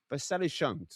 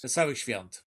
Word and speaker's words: Wesołych świąt: Wesołych świąt. Wesołych świąt.